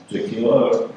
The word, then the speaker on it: Jakiela: Jakiela rhymes with tequila.